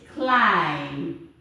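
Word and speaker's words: climb: and this one is clim look at the B is silent the this one is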